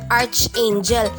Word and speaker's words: archangel: So ito ay nahahati sa 3 syllables. Ang una po ay arc. So hindi po siya arch, but arc. Ang pangalawa at pangatlong pantig ay napakadali na lamang. So angel. So ang stress po ay nasa first syllable. Makinig. Archangel. Ganun daw po. Para kang bumababa sa hagdan.